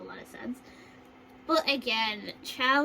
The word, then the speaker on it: chao: But again, chow is, pronounced different than chaos. Chaos is a totally different word.